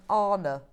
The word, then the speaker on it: Anna: hi Bex does Anna Maria hauler pronounce her name Arna as I'm confused uh yes she does yes she does and